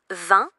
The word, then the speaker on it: vin: Le V se prononce comme en français et le son in est nasal. Répète après moi vin.